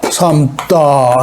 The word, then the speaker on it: 삼다: 삼다.